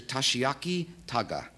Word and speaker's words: Tashiaki Taga: His name is it Mr. Tashiaki Taga? Did I pronounce that all right? That's right.